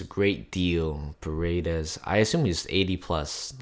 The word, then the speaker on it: Paredes: And here is, so we're looking for Paredes. That's how you pronounce his name.